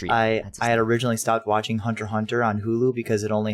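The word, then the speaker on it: Hunter × Hunter: japan you don't say hunter x hunter no it's hunter hunter you don't pronounce the x it's there so yeah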